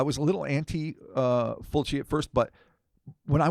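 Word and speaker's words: Fulci: But most importantly, it was Luchio Fulky's zombie 2 aka sometimes they pronounce it Fulgi. I've known Fulchi. It's Fulchi. Okay.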